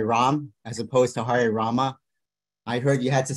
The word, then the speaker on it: Rama: or two devotees that they should chant Rama when they chant Hari Rama because it is the third it is a 32 syllable mantra and if you drop the a which any any short a can be dropped but in the Mantra it'll cut the Mantra short so rabba did instruct